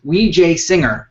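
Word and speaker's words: Wijesinghe: uh uh taking that his name apart it's wej singer how's that man that was perfect on the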